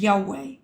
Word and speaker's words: Yahweh: The name is pronounced as Yahweh, which represents the biblical pronunciation of YHWH.